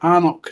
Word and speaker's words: anCnoc: Knockdhu whiskies are bottled under the anCnoc name, pronounced anCnoc, because the owners felt that the distillery name is too similar to that of Speyside distillery Knockando.